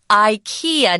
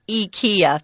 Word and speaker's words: IKEA: want you to know the proper pronunciation for that store that sells Furniture you put together is Ikea not eeka be careful okay whatever